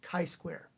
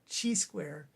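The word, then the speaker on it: chi-square: This is kiquare. If you call it Gsquare, people are going to know you didn't pay close attention.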